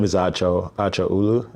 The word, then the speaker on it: Acho: My name is Acho. Acho Ulu. Aro is pronounced Nacho without the N or Macho without the M.